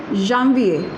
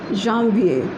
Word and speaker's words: Janvier: Okay, Janvier, and the pronunciation is Janvier. Janvier.